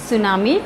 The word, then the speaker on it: tsunami: कर देते हैं इस नाम ई सॉ इट्स सुनामी बट एस way where supposed to right this